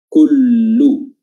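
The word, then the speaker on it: كُلُّ: Dan harokat dari huruf kaf adalah dhammah, ya, maka di sini perlu penekanan sedikit tentang cara baca harokat dhammah, yaitu dengan bibir dimonyongkan ke depan, ku, ya, kullu, kullu.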